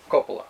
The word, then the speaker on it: Coppola: Mark, you pronounce it Coppola or Coppola? Coppola. Coppola.